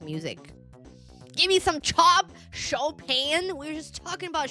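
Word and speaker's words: Chopin: At least I learned how to pronounce Shopan. It's Shopan.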